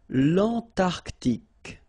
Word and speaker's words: l'Antarctique: Remember, Q-U-E here, it's K. Okay, so tic. L'Antarctique, l'Antarctique.